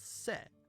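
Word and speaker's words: せ: Pronounce this as se.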